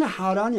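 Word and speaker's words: Haran: 이제 우리 한글이니까 똑같이 하란인데 사람 이름은 우리 한글로 하란이라고 해도 똑같아요. 발음이 하란인데 지명은 하란이 아니고요. 하란입니다. 여기 있어요. 안에서 이 안쪽에서 나오는 발음 자체가 달라요. 이 단어 자체가 히브리 단어 자체가 달라요. 그러니까 사람 이름은 하란이고 지명에는 하란입니다.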